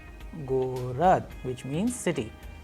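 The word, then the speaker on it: город: Now, we have another Russian word Gorod, Gorod, which means city. Here you can pay attention that how the letter G is being pronounced in the word Gorod, which means city.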